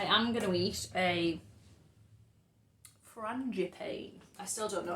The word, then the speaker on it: frangipane: For reference, in France we say it as frangipane. Frangipane. Frangipane. But it'd be fine in Frangipane. English to say it as frangipane. Frangipane. Frangipane. Frangipane. Frangipane. Like marzipan. Frangipane.